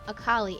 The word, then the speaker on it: Akali: of her tribe so when you say her name akali it's like saying miss kali but that's just her